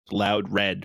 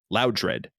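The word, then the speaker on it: Loudred: to accept their uh their explanation of pronunciation with loud red because they're saying they got the name from loud high in volume and dread fear it would be much more like you would want to pronounce that than loud dread so that you kind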